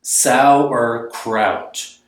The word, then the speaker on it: Sauerkraut: Sauerkraut. There's 3 syllables, but it seems like there should be more.